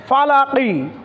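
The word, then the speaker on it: فلق: Jerry ফালাকি ফালাকি ফালাকি Waqf করলে হবে ফালাক আমরা জানি শব্দের শেষ বর্ণে এক জবর এক জের এক পশ দুই জের দুই পেশ থাকলে সাকিন করে দিতে হয় ফালাকি কে পড়তে হবে ফালাক মিম নুন জের মিন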